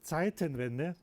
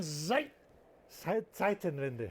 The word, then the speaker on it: Zeitenwende: Well, It says Zeitenwende.